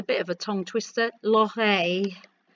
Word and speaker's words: l'oreille: For ear is a bit of a tongue twister, l'oreille. And it's a y sound where the two L's are put together, l'oreille.